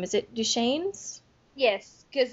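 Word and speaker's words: Duchannes: last name is it duan's yes because he says it one point in there that it rhymes with rain okay I was pronouncing it duan's but I just I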